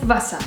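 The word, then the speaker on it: Wasser: means house in English and guess what it's pronounced exactly the same way house and house next up we have Vasa which means water imagine meeting a friendly buser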